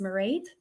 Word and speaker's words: Mairead: My name is Mairead. It rhymes with parade.